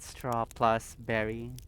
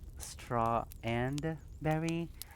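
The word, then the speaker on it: Strawberry: It's pronounced straw and berry. So, oh my god, Scott, you and I same wavelength because I totally um that first stream definitely I thought it was straw plus berry not straw and berry.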